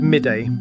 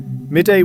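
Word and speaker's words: Mide: The Kingdom of Midday, pronounced Meath, was a medieval Irish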